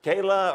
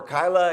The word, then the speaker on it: Keilah: So Keilah or Kyla, it can be pronounced either way, and I will probably